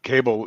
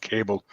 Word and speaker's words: Cabell: No, and that's important, because Cabell is really one of the first families of or Cable, as some people pronounce it. It might be pronounced Cable. I've heard it both ways.